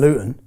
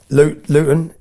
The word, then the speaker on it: Luton: Luton Luton, we don't pronounce our T's in Luton, but Luton is 30 mi north of London.